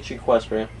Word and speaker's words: Equestria: say it right tdb Equestria Equestria it's like equestrian you know if you